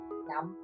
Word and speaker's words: năm: Year in Vietnamese is năm. Năm. Sounds like number 5, right? Very simple to remember.